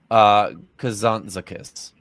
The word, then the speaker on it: Kazantzakis: Nikos Kazantzakas. Sorry, Nikos Kazantzakis.